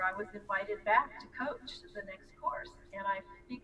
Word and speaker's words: Koch: sue coach coach because her last name is pronounced coach ko CH and I